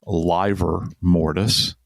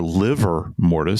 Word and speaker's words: livor mortis: And when we say post-mortem lividity, or livor mortis or liver mortis. Some people pronounce it that way.